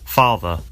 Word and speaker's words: father: father father car car notice that the final R sound is not pronounced in British English father ends in a simple schwa vowel like father and in car the vowel sound is lengthened in place of the R sound car now the thing